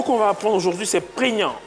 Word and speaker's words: prégnant: C'est moi, le mot qu'on va apprendre aujourd'hui c'est prégnant. Prégnant.